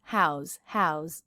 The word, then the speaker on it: how's: How's, z, with a Z sound.